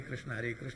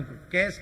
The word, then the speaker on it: कृष्ण: तो कृष्ण शब्द का उच्चारण कैस कैस, हरे कैस, हरे कैस, कैस कैस, हरे हरे से बोले। पंडित जी बोले ठीक से तो बोलो कृष्ण नाम।